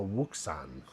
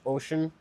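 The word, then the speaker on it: Wouxun: Most people call this a Wukan. Wo UX U N is the name of it, but is pronounced ocean.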